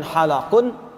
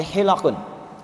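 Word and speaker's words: حِلَق: Wasallam hilquikri hilaqu Zikri Perhatikan cara bacanya bukan halaqun tapi hilaqun ya kalau halaq itu punya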